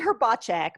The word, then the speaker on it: Hrbacek: Is that It's pronounced actually Hrbacek, but Hrbacek.